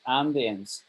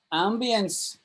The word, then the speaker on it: ambience: Ambience. mhm. Ambience, I like to pronounce it ambience, but ambience, you can pronounce it either Ambience.